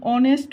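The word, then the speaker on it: honest: तो य भी एन लगेगा ठीक है एन ऑनेस्ट बॉय य नेस्ट ऑनेस्ट ऑनेस्ट बॉय इसमें भी ए साइलेंट होता है ऑनेस पढ़ते हैं तो यहां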